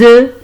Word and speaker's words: œufs: Ici, des œufs. Des œufs. F-O-S ne se prononce pas. Des œufs. Mais lorsqu'on dit un œuf. Oui, F ici se prononce. Lorsqu'on fait le pluriel, des œufs.